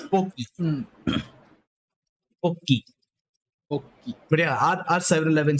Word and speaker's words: Pocky: By the way, I think Pocky should be pronounced as Pochi because that is how the Grand Blue characters say it. Yeah, they say it to avoid a lawsuit. That's all. It's Pocky.